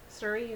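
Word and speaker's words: Suri: Surrey, is that how you say it? S-U-R-I, alpaca? I think you're saying it right. Surrey alpaca, yeah.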